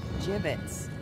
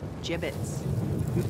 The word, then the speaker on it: gibbets: of here hey look a he had some gibbets left over jbits what it's pronounced jbits are you sure yeah well no one likes